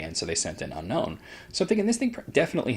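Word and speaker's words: Unown: unknown down I was because of the way it's spelled I always want to call it unknown same comes vivillon vivillon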